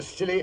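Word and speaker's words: Scilly: Well, tonight I thought I'd relate how Holmes and I spent New Year's Eve off the Silly Isles.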